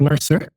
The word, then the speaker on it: Mercer: corrigmoi dans la prononciation on dit merci auou Mercer juste pour être certain alors c'est Mercer Mercer bon ça merci de